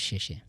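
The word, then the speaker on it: 谢谢: তো তাইলে পারে এইটা হচ্ছে চাইনিজ সে এই দেখুন উপরে লেখা আছে শেষে, ঠিক আছে। চাইনিজে এক্সের উচ্চারণটা তালে বর্ষের মতো হয়, ঠিক আছে।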